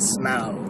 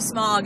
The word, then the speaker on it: Smaug: seeing the Hobbit the Desolation of smow and I said it right yes and he's been saying it wrong I've been saying it wrong because of you I finally started saying it right cuz you wanted me to say it right yeah and now he's he was talking to me about the desolation of smog and I just kind